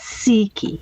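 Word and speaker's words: Cichy: that myself yeah he letting me know it's seeky seeky sneaky okay that's fine i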